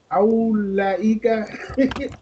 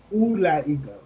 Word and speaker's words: أولئك: teacher female teacher so this would be awlaika ulaika I keep saying that ulaika ulaika ulaika mudarisatun Mudarisatun. Dalika Hajja. Hajjun. Hajjun. Hajjun. Dalika Hajjun. I'm going to mess it up again. Aulaika. Aulaika. Ulaika.